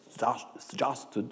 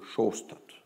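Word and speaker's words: Sjaastad: Les Américains disent Sjasted, ils essaient de prononcer... les Anglais disent Sjasted, et les Norvégiens disent Sjostad. Donc, moi, je vais prononcer Sjostad, un peu comme Shostakovich.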